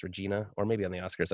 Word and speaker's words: Regina: We got Regina because from that video we made last night, my friend told me that's pronounced Regina, or maybe on the Oscars I saw it.